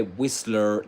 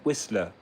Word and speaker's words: Whistler: Okay, Whistler, that's American English, but I guess that he's British, so that's not Whistler, but Whistler.